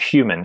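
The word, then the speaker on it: HVMN: get then into your in the companies called human even though it's it's spelt hvm in h HP h PM n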